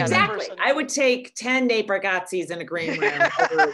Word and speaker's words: Nate Bargatze: He's he's the inspiration for the I was also talking to somebody about Nat Bargatze. Nate Bargatze. That's it.